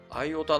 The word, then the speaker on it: IOTA: 素読暗号通貨ですアイヲタのトークン情報を見てみましょうトークン目は io たーーー io たと読む人もいますシンボルは mio チー